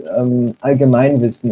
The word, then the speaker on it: Allgemeinwissen: It's Allgemeinwissen, as in.